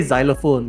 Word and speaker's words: xylophone: No, you say xylophone, you spell it with an X, but it sounds like a Z.